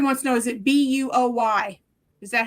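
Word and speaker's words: Boye: Is it, Lori wants to know, is it Buoy? Is that how you spell it? Yes. Buoy.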